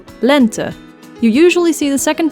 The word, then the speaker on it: lente: the difference talk man e as in the word lent which means spring in Dutch the first e being pronounced the same way as its English counterpart so e and the second one being pronounced as an uh sound lent you usually see the